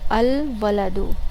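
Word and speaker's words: الولد: जैसे कि अल वलदू, अल आप प्रोनाउंस करोगे वाव के साथ, अल वलदू, वलद जिसे हम इंग्लिश में बॉय कहते हैं, लड़का, अल वलदू।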